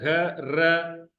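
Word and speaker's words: گھر: घर को houses in plural will be written and pronounced in Sindhi as ghar. This is ghe, this is one letter, और this is ra, ghar, घे पर भी जबर, रे पर भी जबर।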